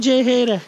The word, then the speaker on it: C-HR: Özledin mi beni sarılıyorsun Toyota chr İngilizce olar okunuyor bak Türkiye'de üretiliyor Selim